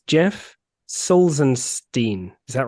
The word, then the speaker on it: Salzenstein: pronounce his uh his surname so it's Jeff souls and Steen is that right got it right it's close it's soft and he goes can you give me a song so saulsenstein there we go this has been my favorite